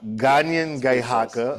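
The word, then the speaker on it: Kanienʼkehá:ka: on traditional and please correct me if my pronunciation is off. Kenyan Kahaka Gan Ghaga Gan Ghaka or Mohawk.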